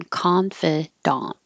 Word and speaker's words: confidant: feel Confidant we do say the ah in daunt and we don't reduce it to an it or an uh it does stay the same ah sound as the first one Confidant and then confident mention